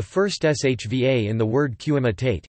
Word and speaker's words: קִמַּטְתְּ: For example, the first shva in the word qimitate u fem, crumpled, is pronounced e, qimitate, though historically it was silent, whereas the shva in zeman time, which was pronounced historically, is usually silent z-man.